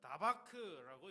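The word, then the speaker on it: דָּבַק: 여기서 가장 좀 생각하고 싶은 단어 하나는 그 중간에 있는 친근이 하다라고 하는 단어입니다.이 단어는 나바크라고 이렇게 발음하는데 단순히 가까이 있다.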